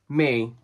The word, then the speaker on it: Miu: That's pronounced me. Me.